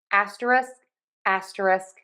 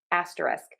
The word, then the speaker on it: asterisk: I have to say most of the time I drop the K at the end of this word and say asteris. So I was listening to other people. I do hear people say the K, but a lot of times I hear people drop that K.